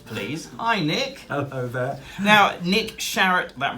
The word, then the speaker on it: Sharratt: I like it but it rhymes with parrot and carrot and it's on his